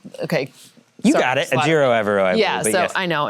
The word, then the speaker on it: Ejiro Evero: Ejiro Evero. Okay. You got it. Ejiro Evero.